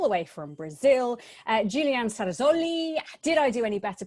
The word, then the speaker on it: Cerasoli: f1 journalists all the way from brazil julianne sarazolli did i do any better pronouncing your surname this time julianne oh good